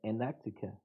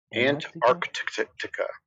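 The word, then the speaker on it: Antarctica: Oh, I'm saying Anactica. And how how do you say it in English? Ant arctica and yeah.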